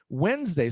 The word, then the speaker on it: Wednesday: Wednesday is pronounced like Wednesday. So it's written, nobody says wedes day. Nobody pronounces this like it's supposed to be. Well, if it's at least like it's uh nobody pronounces this like it's written.